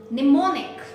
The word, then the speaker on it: mnemonic: All right, M is silent here, okay.